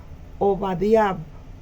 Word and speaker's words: Obadiah: El nombre hebreo de Abdías se pronuncia Obadiah y significa adorador de Jehová o siervo de Jehová.